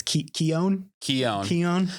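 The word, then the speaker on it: Keoghan: know but the the the barry keown joker tease okay it's keon see i did your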